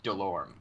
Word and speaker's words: Delorme: it wrong yeah it's so in French it's dead um but in English it's Delorme okay not a little or ma'am okay it's just a